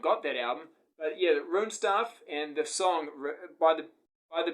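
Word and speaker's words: Runestaff: One thing I wanted to mention just with this compilation, there's a band on here called Rune Stuff.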